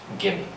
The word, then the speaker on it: gimme: So you see how I drop the pronunciation of the letter V and I just replace it with M. Gimme.